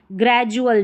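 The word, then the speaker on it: gradual: यहाँ पर डी को हम ज प्रोनाउंस कर रहे हैं, एजुकेशन, डी के बाद में यू आया है। ग्रेजुअल, ज, डी के बाद में यू आया है।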